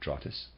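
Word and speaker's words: Drottes: and that's readers aside that spelled d-r-o-t-t-e-s i am pronouncing that trottas and the readers aside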